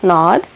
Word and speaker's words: gnawed: So I'm going to highlight the word that she said, gnawed. So the G is silent, so we're not pronouncing the G.